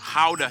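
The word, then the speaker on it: Gouda: and the pride and joy of the nation how to cheese yep that's how you pronounce it guys oh and keep in mind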